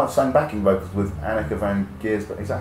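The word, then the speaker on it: Anneke van Giersbergen: And she played, I think she might have sung backing vocals with Annika van Giersbergen. Is that how you pronounce it? Annika van Giersbergen?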